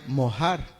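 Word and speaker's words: מֹהַר: mejor esta parte dote en el hebreo se pronuncia mojar y en el hebreo tiene un significado que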